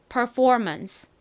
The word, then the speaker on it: performance: performance. 한 번 더 해볼게요. 여기 부분에 제일 큰 강세가 들어갑니다. performance. 좋습니다.